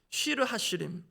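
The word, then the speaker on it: שיר השירים: 그래서 오늘 본문으로 와서 아가이 아가로 번역된 히브리 원문을 히브리 문법에 따르면 한글로는 노래들 중의 노래 영어로는 브성즈 히브리어 발음대로 하면 쉬르하시림 이것은 최상급의 표현입니다.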